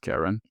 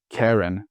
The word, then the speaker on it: Charon: It is Charon. Karen, not Karen, it's Charon. Whatever, the ferryman.